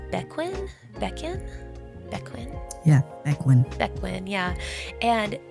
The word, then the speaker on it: Bequin: So I think her name is pronounced Bequin? Yeah, Bequin.